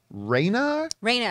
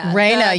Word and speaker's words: Rhaena: It's not Rhaenyra, it's Rhaena? Rhaena, yeah.